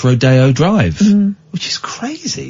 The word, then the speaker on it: Rodeo Drive: Although it is pronounced Rodeo Drive, which is crazy.